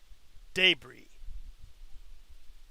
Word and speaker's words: debris: We eat debris. What? Debris. Debris. Debris? Debri. We eat What counts as detritus. debris for you? Detritus. Debris. S is silent.